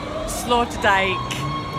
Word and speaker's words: Sloterdijk: So we're here at the, I'm going to let Laura pronounce the name of the spot. Sloterdijk.